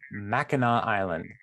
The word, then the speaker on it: Mackinac Island: It's called Mackinac Island, but it's spelled Mackinac Island. And it's one of those things that it's like, if somebody says Mackinac, you're just like, you're now the dumbest person in the world. Like, how could you possibly? Even though it's spelled wrong. Yeah.